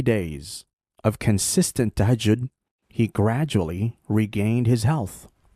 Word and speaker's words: tahajjud: And Amina Roche talked about something called tahajjud. I called it tajahun. I didn't know how to pronounce it. So tahajjud. Tahajjud, yes.